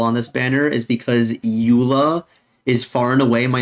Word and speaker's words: Eula: I used to think her name was Euler because her name reminds me of Euler's theorem, or Euler's number. And I have some friends from Germany who also say that their natural way of pronouncing her name would be Euler. And then it took me a while to call her Eula.